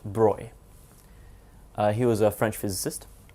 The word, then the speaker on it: Broglie: His name looks like Broglie, it's pronounced Broy.